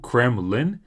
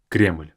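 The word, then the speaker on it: Кремль: to show is Kremlin notice that in Russian is just one syllable in English it's two cremin but in Russian just one crl Kos is is a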